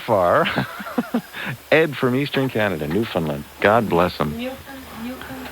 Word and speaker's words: Newfoundland: Ed from Eastern Canada, Newfoundland. God bless him. Newfoundland. How do you spell that?